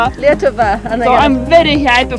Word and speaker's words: Lietuva: Lietuva. Lietuva.